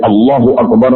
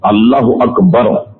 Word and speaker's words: اللہ اکبر: بتایا یہ صحیح نہیں۔ جیسے اللہ اکبر میں الف پر مد لگا دیا جائے تب بھی نماز فاسد اور اس کے معنی اتنے فسادی کہ کفر تک عائد ہوگا۔ اللہ اکبر یہ اک جو ہے